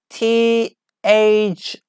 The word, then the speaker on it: thigh: Next one about THIGH. Yeah, I know it is really difficult to pronounce, but it is thigh, like between your teeth. Pronounce between your teeth. Thigh, like silent G and H combination.